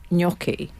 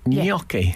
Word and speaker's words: gnocchi: Well, it's got that fine. silent G thing going on, hasn't it? I think Italians, I don't know, I'm sure if they're any Italian, but I've heard Italians would say gnocchi. Ah.